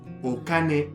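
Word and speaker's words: お金: Và nếu bạn thêm "o" trước nó, nó được đọc là "okane", nghĩa là tiền.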